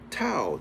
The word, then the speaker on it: Tau: From whence all, Allah, all one and alone, was then in the first degree of this sign, Tau, T-A-U. That's the the Greek pronunciation of Ta, okay, it's a remix of Ta, which is the ancient Ibaryath.